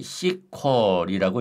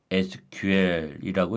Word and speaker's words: SQL: 보통은 시퀄리라고 읽습니다. 하지만 각 문자를 개별적으로 읽어서 SQL이라고 읽어도 됩니다.이 CQ은 데이터 정의 언어와 데이터 조작 언어, 데이터 제언어로 구분됩니다.